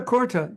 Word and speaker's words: kurta: What's a kurta? It's a kurta, pronounced kurta. Kurta.